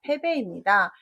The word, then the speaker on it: 패배: 답은 패북이 아니라 패배입니다.